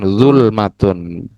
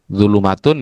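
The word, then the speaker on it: ظلمة: Nah, kalau mufradnya ya tetap dibaca dengan zulmatun. Jadi kalau yang bacanya apa tadi? Dulumatun ya keliru. Ee seharusnya adalah dululmatun.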